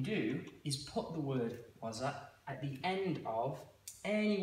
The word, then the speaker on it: waza: So what you don't want to do is say it like two separately or like elong the words. So it shouldn't be like wa. So wasa.